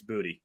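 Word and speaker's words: Boutte: pass dropped by booty the announcer is pissing me off with how he pronounces his name how is he announcing his name Raymond boute boute bout bout another Dro by boute I'm like dude it's booty booty booty booty popping everywhere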